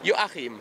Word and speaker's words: Joachim: Joachim. Joachim. We have that CH in there, which you really can't pronounce over here.